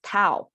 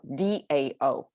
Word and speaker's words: 道: the west and um know this word as tao t-a-o not d-a-o okay different pronunciation from different maybe that's a cantonese town i don't know but that's the tao that the world knows but here i'm telling you the chinese also dogs chinese pronunciation as dao and this falling sound um